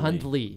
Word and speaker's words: Hundley: Hundley, but it's pronounced like Huntley. Yeah, Hundley Hundley.